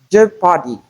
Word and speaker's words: Jeopardy: as in leopard, Leonard, Jeopardy, and Jeffrey. Most times, people mispronounce these words as leopard, Leonard, Jeopardy, and Geoffrey. It is not Joe, but we have the sound in place of the EO.